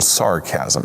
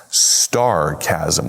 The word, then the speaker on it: sarcasm: You're using what we call a little sarcasm, aren't you? My daughter Emmy is just now learning about sarcasm. Emmy and Lucy. And somehow they've got it in their head that it's pronounced starcasm with a t sarcasm.